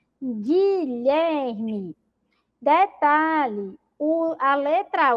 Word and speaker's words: Guilherme: fica com som de gay mesmo então é pronuncio ó guerra Guilherme detalhe a letra U não é pronunciada Observe